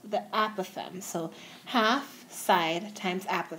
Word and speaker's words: apothem: perpendicular to other side and that's called the apothem I'm not sure if I'm pronouncing it right but it's spelled a p